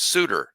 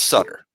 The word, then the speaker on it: Sutter: I was going with my main man, Major League Hall of Famer Bruce Sudter. It's Sutter. Well, my my wife's middle name is M O WR Y.